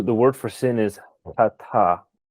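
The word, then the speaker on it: חטא: It'd be C-H-A-T-A, chata. The CH has a ch sound, sort of that guttural sound in Hebrew.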